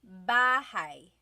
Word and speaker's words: bahay: Bahay. Bahay. You might notice that the spelling is A-Y at the end, so it looks like bahay, but it's pronounced bahay. That A-Y combination is bahay.